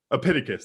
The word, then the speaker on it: Epictetus: Epictetus. Epictetus, there we go.